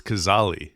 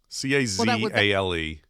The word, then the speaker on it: Cazale: That great actor, last name is pronounced Gazzali, which would be more of the Italian, or Cazale. I think it's Cazzali, but I could be wrong. Cazzali, yeah. Cazale. Yes, that would be the Italian, and Cazzali, someone might say Cazale.